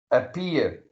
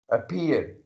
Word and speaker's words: appear: You are putting stress on the letter P while pronouncing. Appear, appear. Like that is the peak point of pronunciation. Like your voice reaches at the peak when you come to P when you pronounce appear. Appear. You're stressing, you're putting stress on, you're stressing on it.